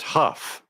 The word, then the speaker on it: Hough: can you do um her last name is pronounced Huff Okay so we've got